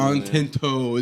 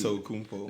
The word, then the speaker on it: Antetokounmpo: Giannis Antetokounmpo. Don't forget the extra. You got extra syllable. Antento. It's the toe at the end. Antetokounmpo.